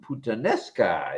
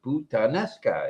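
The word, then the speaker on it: puttanesca: one pot pansa oo putanesca it should be putanesca yeah it's a quick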